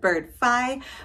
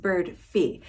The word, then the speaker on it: Birdfy: up on the screen it looks like bird five but it is actually pronounced bird fee and it is awesome